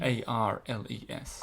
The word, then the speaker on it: Arles: A-R-L-E-S. Arles. Imagine Arnold Schwarzenegger saying, I'll be back, and you can pronounce it.